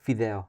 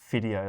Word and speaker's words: Fideo: Fideo, yeah. It means spaghetti in Spanish. Oh, okay. Because I love spaghetti. I pronounce that as video, like video, but F. No.